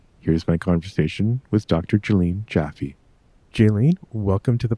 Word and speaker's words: Jaelline: So first of all, my name is pronounced Jaelline.